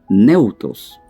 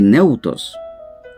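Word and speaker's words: θεόπνευστος: Esta palabra en el idioma griego cuesta mucho pronunciar, pero lo vamos a pronunciar de la mejor manera. Neutos. Lo vamos a deletrear. T, H, E, O, tilde en la O,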